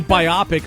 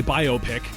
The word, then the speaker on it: biopic: biopic but it no I say biopic I want to be wrong I'm happy to be wrong on this one yeah well biopic sounds like a movie biopic sounds like a medical procedure yeah but it's based off of like biographic biographical picture picture yes it's a port